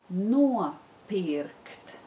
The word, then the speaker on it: nopirkt: But now we need to learn the word nopirkt, which means to buy. Nopirkt. Nopirkt. There is the diphthong o in the first syllable. Nopirkt. Nopirkt. And there is the Latvian r sound in the second syllable.